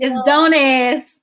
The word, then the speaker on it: Donez: It's Donez. Donez. I said it wrong again, y'all.